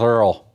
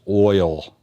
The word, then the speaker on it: oil: That's how you say it down south, Earl. Or how we'd say it up north is oil.